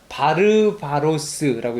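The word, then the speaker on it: βάρβαρος: 바르바로스라고 읽으면 됩니다. 바르바로스라고 읽으면 되는데 뭐 들어보셨어요?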